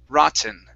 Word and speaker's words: rotten: and and and N we cannot use a flap T to replace the Double T or a regular T we have to either pronounce it with as a normal T sound like T or we swallow it okay so for example this is the normal way rotten okay the other way